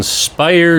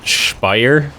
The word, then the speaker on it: Speyer: say that already so they have a tendency from what I overheard of course I don't speak German to pronounce it spire so I might pronounce